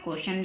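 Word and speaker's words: question: क्वेश्चन क्या बन गया क्वेश्चन लास्ट में टी आई ओ एन है हम इसको सन पढ़ेंगे तो बन गया क्वेश्चन है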